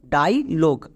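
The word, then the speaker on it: dialogue: এবার দেখো শব্দের শেষে আবার কিন্তু ব্লেন্ডিং ওয়ার্ড ইউ ই আছে, কিন্তু এই ইউ ই এখানে সাইলেন্ট থাকবে, মানে এর উচ্চারণ হবে না। তাহলে পুরো ওয়ার্ডের উচ্চারণ কি দাঁড়ালো? ডাইলগ।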